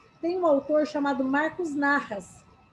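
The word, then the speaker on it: Nahas: Então, se você estiver anotando aí, tem um autor chamado Marcos Narras. Narras se escreve N-A-H-A-S. Marcos Narras, ele fala muito que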